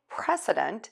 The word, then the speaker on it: precedent: The difference is this S, S, and Z, Z, which is voiced. That is the main difference in these two words, just one little sound. So to say precedent, what you're going to